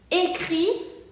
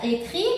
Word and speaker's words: écrit: Écrit se pronuncia écrit porque aquí tenemos una T final que no se pronuncia.